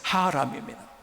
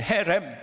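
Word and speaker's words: חרם: 진멸이라는 것은 하람입니다. 혹은 헤렘 이렇게 발음되기도 합니다.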